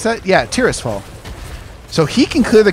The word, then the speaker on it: Tirisfal: How do you pronounce that? Yeah, Tirisfal.